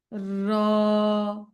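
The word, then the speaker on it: راء: চেষ্টা করবেন দাল দাল দাল র রটা মোটা হবে জিব্বাটা উল্টো করে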